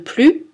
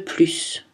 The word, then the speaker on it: plus: Cette différence ne s'entend que dans le S de plus. J'en veux plus, j'en veux plus.